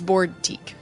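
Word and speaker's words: Boardtique: Like it's a boutique, but it's Board Teak.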